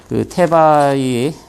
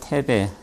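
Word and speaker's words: Θῆβαι: 나눠드린 자료는 그냥 참고하시라고 나눠드린 거고, 앞부분에는 테바이, 이게 뭐 영어로는 테베, 근데 이제 히라보 발음에 가까운 건 테바이라고 그럽니다.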